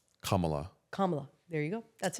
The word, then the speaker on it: Kamala: say her name and it's comma like a comma la la Kamala Kamala there you go